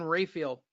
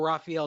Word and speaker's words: Rafael: This coming to us from the fattest man in boxing, Dan Rafael, or Raphael, depending on who you want to hear say his name.